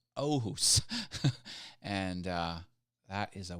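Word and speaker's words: Åhus: absolute vodka from Sweden is from ohus Sweden and that's spelled with the a with the circle over top of it oh who's and uh that is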